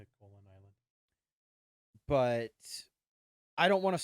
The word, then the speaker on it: Koholint: I think that's how you're supposed to pronounce it. Koholint Island.